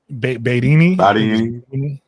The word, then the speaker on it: Marieme Badiane: Marianne, how you pronounce her name? Marieme Badiane? Badiane.